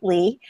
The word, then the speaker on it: Leigh: My name is Leigh. It is spelled a funny way, so I answer to other things, but it is pronounced Leigh.